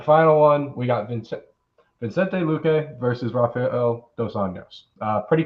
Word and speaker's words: Luque: You can get a little bit of more value on prediction strike with Vicente Luque. I'm probably saying that wrong because my pronunciation is awful.